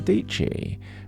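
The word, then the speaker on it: Dietschy: there's a class with sarah dc rhymes with peachy about vlogging there is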